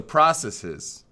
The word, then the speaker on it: processes: but then it says what is the plural of process this process that is with a short e just like dresses and stresses and tresses okay so processes okay that was important